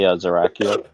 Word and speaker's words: Zerakiel: I usually say Zerakiel. Zerakil.